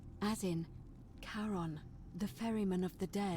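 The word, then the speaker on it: Charon: it's just as you described it only your pronunciation is a little off the name you heard wasn't karen it was c-h-a-r-o-n as in caron the ferryman of the dead that's the ferryman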